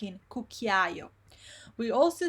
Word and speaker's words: cucchiaio: So you hear all the vowels here.